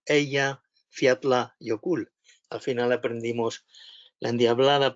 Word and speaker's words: Eyjafjallajökull: Al final, un vulcanólogo islandés se puso delante de nosotros y dijo Eyja Fjallajökull, y todos repitiendo Eyja Fjallajökull.